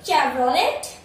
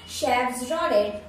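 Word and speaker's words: Chevrolet: आओ अब नेक्स्ट वाला देखे, तो नेक्स्ट वाला ये चेवरोलेट चेवरोलेट चेवरोलेट नहीं भाई इसका सही, मैं तो आपसे भी डेंजर प्रोनाउंस कर रही हूँ मुझे लग रहा है, पर इसका सही प्रोनाउंसिएशन है शेफ्रोलेट शेफ्रोलेट शेफ्रोलेट शेफ्रोलेट शेफ्रोलेट।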